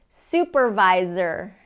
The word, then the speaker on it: supervisor: want more set here supervisor supervisor and again we're over emphasizing these because I really want you to practice turning on that voice supervisor knows okay which